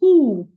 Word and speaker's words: who: And the word wh has silent w. So the word is who. Who are you? The w sound should not be heard. So, it's who are you, not who are you?